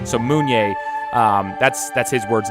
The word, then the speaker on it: Mounier: our guest is moon yay and the way you pronounce his name is you look at the moon and say yay so moon yay that's that's his words